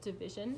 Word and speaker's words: DVSN: Music-wise, I've been obsessed with this artist called Division, and they're actually a duo, but their name is spelled out as DVSN. They have some really, really